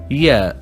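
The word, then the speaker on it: ياء: And the final letter is Ya, and we pronounce it Y, like a Y in English.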